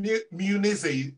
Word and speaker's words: Munizzi: So Martha Munizzi, how many people get that surname wrong? Everybody except for people in Europe. They usually get it right. Oh, so, wow. Pronounces it correctly. No one else. But Munizzi is the right way, isn't it?